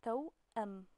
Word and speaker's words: توأم: So if the Hamza wouldn't be here, how would it be pronounced? Exactly, it would be توأم, but with an Hamza on it, it's توأم.